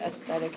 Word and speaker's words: aesthetic: So the interesting thing about aesthetic is that here's an E. And that E, you don't really pronounce that E.